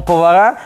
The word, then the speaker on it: повара: Повара правильно говорить.